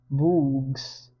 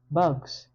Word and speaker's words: bugs: "Bugs," he said. "Good," said Stanley. "Remember, it's a short U if there's no E at the end.